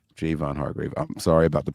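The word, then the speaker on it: Javon Hargrave: man I'm trying to hardgrave Javon hardgrave is getting cut too I'm just playing it's Jayvon Jayvon hardgrave Jayvon Hargrave I'm sorry about the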